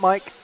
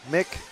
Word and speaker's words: Mick: Not Mike. Mick.